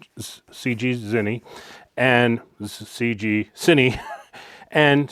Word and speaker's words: ZGCINE: And a company reached out called ZGCINE. I believe that's how it's pronounced. ZGCINE, ZGCINE, and ZGCINE, and said,